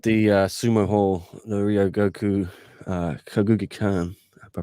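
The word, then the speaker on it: Ryōgoku Kokugikan: because one did the uh sumo hall the rio goku uh kaguki khan i pronounced that right well done the famed sumo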